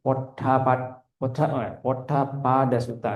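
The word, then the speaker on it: Poṭṭhapāda Sutta: Ini bacanya gini, Potapada Sutta gitu.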